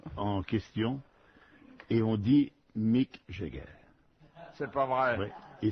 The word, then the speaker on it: Mick Jagger: monsieur en question et on dit Mick Jagger.